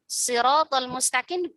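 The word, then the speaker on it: الصراط المستقيم: Atau Siratal Mustaqim dibaca dengan sin. Siratal Mustaqim. Sirata, bukan dengan shad. Ini juga masih bisa dibenarkan karena ada qiraah yang lain yang memang membacanya dengan huruf sin, ya.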